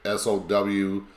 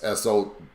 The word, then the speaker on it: Samhain: Again, we've already learned about Samhain, and now there's different people pronounce it different. Some say it SOWIN, and then there's SOWWIN. It's SOWIN, or at least that's how most people pronounce it.